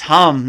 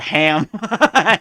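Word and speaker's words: हं: Like, it's hum, not ham.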